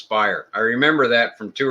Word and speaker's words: Speier: Cromartie shortstop Chris Speier I was used to calling Chris Speier but Jerry ball corrected me it's Chris Speier I remember that from